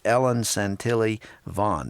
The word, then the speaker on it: Ellen Santilli Vaughn: It's called The Body Being Light in Darkness by Charles Colson with Ellen Santilli Vaughn. Did I pronounce her name correctly?